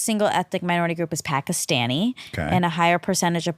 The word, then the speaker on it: Pakistan: also because it's not it wouldn't be pistan but you that is how he says it no he says Pakistan Pakistan which is actually how you say it okay but here